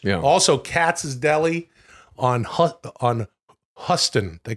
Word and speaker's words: Houston: But if you go to Katz's Deli on Huston, dude, it's spelled Houston.